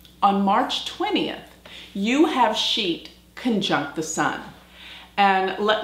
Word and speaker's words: Scheat: to talk about the fixed Star sheet and sheet is spelled s c h e a t and